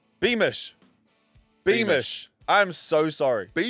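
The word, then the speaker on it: Beamish: Um the I always get his name wrong. The steeplechaser. Yeah. Jordi Be uh Beman. Beman. Beman. B A is giving us the Beeish. Beish.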